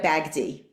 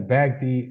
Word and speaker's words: Bagdi: The the pronunciation of the illustrator is Anita Bagghdi. Anita Bagghdi.